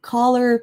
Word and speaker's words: color: So, color palette, we say it with a uh sound. Similar to colleague, actually. You say the word colleague with an uh as well, instead of a o.